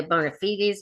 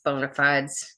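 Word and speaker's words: bona fides: I've heard people think say bonafites, but I think it's bonafides when I listen to Google pronounce it.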